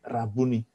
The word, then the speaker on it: Rabuni: Bacanya jangan kayak orang Jakarta, Rabuni gitu. Bukan soal matanya rabun gitu kan. Bukan Rabuni gitu. Tapi Rabuni.